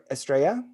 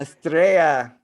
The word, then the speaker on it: Estrella: have Kevin Estrella, and I'm saying it right, Estrella? It's good anyway. What's the right way? Because I was like, it's Spanish, it's double L. It's star. I mean, star. Good. Estrella is good. Estrella is good. Estrella.